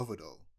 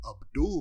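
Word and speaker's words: Avdol: JoJo gift but in JoJo you have uh avidol who is only called avidol because both in the the dub and sub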